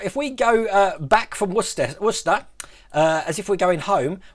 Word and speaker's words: Worcester: And if we go southwest of Birmingham, we come to a place called Worcester. Again, pronunciation. If you're American, you probably call it Worcester. But yeah, it's Worcester. That's what it's called.